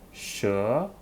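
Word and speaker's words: 蛇: let's continue next one sh sound remember is the shoe sound right okay with the oh final second tone together sure sure nice job sure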